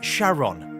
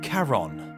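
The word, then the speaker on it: Charon: to his wife Charlene he pronounced it as Sharon rather than Karen not much was known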